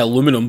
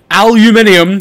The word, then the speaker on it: aluminium: it on brushed Alum I was going to say aluminum but I'm not American aluminium there we go to be honest I